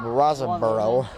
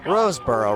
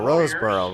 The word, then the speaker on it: Roseboro: 44 the Warriors Caleb Raza borough I'm sorry for mispronouncing his last name one lately and he's gonna kick it off for the Warriors Roseboro Roseboro Roseboro that's his last